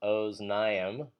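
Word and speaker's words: אָזְנַיִם: And note that the plural is pronounced oznaim, but it's written with that annoying kametz hatuv, which is under the first syllable there and is pronounced O, even though it looks like it might be A.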